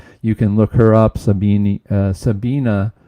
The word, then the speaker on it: Sabine: Sabina, I think, is the way they pronounce it. I was told I was pronouncing that wrong by one of my viewers, but I think it's Sabina, but it's spelled with an E at the end.